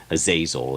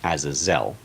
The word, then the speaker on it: Azazel: And the emphasis is always on the last syllable in original Hebrew. So it's not Azazel, it's Azazel, basically.